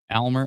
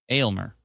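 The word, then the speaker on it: Aylmer: Oakville Storms are bad at soccer in uh Almer. Is it Almer? I forget how to pronounce it. A Y L M R Atlanta probably knows. Um, and clouds look awfully concerning. A y lmer. Elmer.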